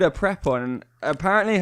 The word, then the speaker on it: Prepon: so I called a prep one and apparently her last names officially pronounced pre pot and pre pond laura Prepon like a pre